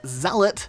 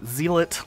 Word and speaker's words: zealot: as gender and elites have a class called zealot it is not at all pronounced zeal it like I hear so many squeakers say not that anyone really cares